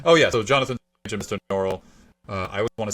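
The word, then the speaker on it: Norrell: better but it's actually noral yeah and that's really funny but with an American accent it's especially horrible because you can just swallow those L's you know oh definitely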